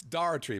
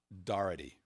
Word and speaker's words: Doherty: It's Doherty, by the way. I've pronounced it 15 different ways, and he's like, all right, you an idiot. He actually wrote it out phonetically. It's Doherty.